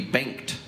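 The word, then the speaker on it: Bengt: It is bent. We say bent. In Sweden, you would actually pronounce the G. It would be banked.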